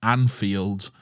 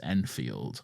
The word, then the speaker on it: Anfield: let me know that it is in fact pronounced Anfield, not Enfield.